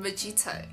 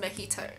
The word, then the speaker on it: mojito: mo mojito right cuz I thought it was called magito and everyone was like oh it's pronounced makito I think I think